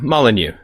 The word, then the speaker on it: Molyneux: I certainly am cool is it malanu or malanu um malanu all right I've heard